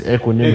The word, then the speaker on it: equanimity: How do you pronounce it? It's equanimity.